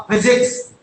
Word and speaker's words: physics: अब बेटा शब्द है पी, लेकिन बोलते इसको क्या? था, फिजिक्स।